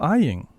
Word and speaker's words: Aying: Hello, Aying. Hello. How did I pronounce that?